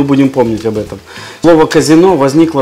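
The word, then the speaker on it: casinò: также танцевали слушали музыку в современном итальянском термине казино с ударением на второй слог означает прежде всего публичный дом представляешь для именования игорного дома нужно добавить акцент то есть ставить ударение на последние слова то есть казино казино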